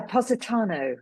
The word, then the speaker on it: Positano: Um so if we go back to um those formative childhood holidays in uh Positano, is that how you pronounce it? Yeah. Positano.